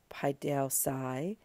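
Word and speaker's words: παιδεῦσαι: we were working with paideosai, the aorist infinitive active of paideuo, there you see the third principal part stem with our new infinitive ending on it. That second to last syllable is also long as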